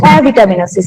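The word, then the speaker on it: avitaminosis: তাহলে অ্যাবসেন্ট থেকে এসেছে এ, অর্থাৎ এ ভিটামিনোসিস, বা কথাটা আমরা যেটা প্রোনাউন্স করব সেটা হচ্ছে অ্যাভিটামিনোসিস। অ্যাবসেন্ট থেকে absent of ভিটামিন means অ্যাভিটামিনোসিস।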